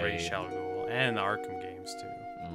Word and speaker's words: Ra's al Ghul: Razon Ghoul. No, Ra's al Ghul.